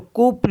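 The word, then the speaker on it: couple: पी एल ई तो सी ओ यू ओ यू को पढ़ते हैं कु तो कुपल हो गया कुपल कुपल मीस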